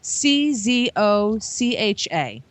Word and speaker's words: Czocha: it, because I can't pronounce this word. It's Czocha. Shizaka.